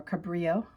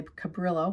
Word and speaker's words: Cabrillo: 1542, Juan Cabrillo, or Cabrillo, could pronounce it. If I say Cabrillo, that's kind of a English way of saying his name. It's Cabrillo.